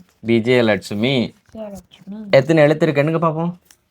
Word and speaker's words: விஜயலட்சுமி: விஜயலட்சுமி. விஜயலட்சுமி. விஜயலட்சுமியா விஜயலட்சுமியா? விஜயலட்சுமி. Right. நான் சொல்லி தரும்போது உச்சரிக்கணுமா? அது எப்படிங்க? கிட்ட வச்சுக்கோ. பி ஜே ஏ ல இட் சு மீ. விஜயலட்சுமி.